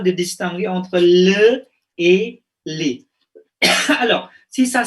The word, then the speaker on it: les: L-E-S, ça se prononce les. D'accord? Et L-E, ça prononce le. Ya, jadi jangan bingung. Misalnya ini, ça se prononce le. Regardez, par exemple, le boulevard. Les boulevards.